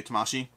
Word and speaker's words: Tamashii: It's actually, I believe it's pronounced Tama, by the way, but I think everyone's going to say Tamashii.